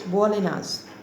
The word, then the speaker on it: Bolinhas: The pronunciation is Bolinhas.